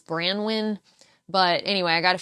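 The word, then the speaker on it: Branwyn: So I think the way you pronounce the company is Brandwin.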